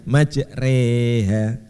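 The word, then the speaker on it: مجريها: Jadi bacanya majroha, majriha, jadi majreha, agak meringis. Ya. Bismillahi majreha wa mursaha. Seperti sore tapi agak meringis lagi.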